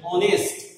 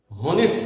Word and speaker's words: honest: এখানে দেখো এইচ এর কোনো উচ্চারণ হচ্ছে না, এইচ অনুচ্চারিত থেকে যাচ্ছে, এইচ এর কোনো উচ্চারণ হচ্ছে না। বরং খেয়াল করে দেখো এইচ এর পরে ভাওয়েল ও এর উচ্চারণ হচ্ছে অনেস্ট, হনেস্ট নয়, এখানে অনেস্ট।